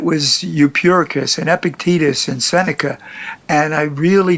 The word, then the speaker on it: Epictetus: the Seneca and epic ticked acai I can't pronounce Akitas epictetus there you go but those guys are transformational